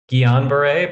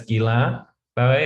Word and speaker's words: Guillain-Barré: So we've now learned from one of our French colleagues that it's not Guillain-Barré, but it's Guillain-Barré.